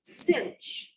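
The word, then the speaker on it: sinh: s i n h of x and you pronounce that one cinch we have the kosh and the cinch what do you think the ratio of the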